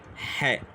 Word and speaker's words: ḥ: الخيط والترانسليشن بتاعه هو حرف الاتش بيبقى تحتيه نطقه نقطه نقطه حاء وهو بيمثل الحرف الحاء او شبيه بنطق حرف الحاء في اللغه العربيه طيب لو احنا عايزين